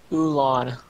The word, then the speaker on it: Ulan: Ulan. Lan. Okay. Like Mulan without the M.